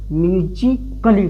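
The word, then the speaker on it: musically: Silent होगा। इसको क्या पढ़ेंगे? म्यूजिकली पढ़ेंगे।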